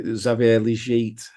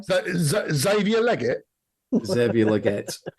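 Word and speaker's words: Xavier Legette: pronunciation again please okay zavier leit one more time zavier leg zette he French don't you know so zavier liette uh yeah oh [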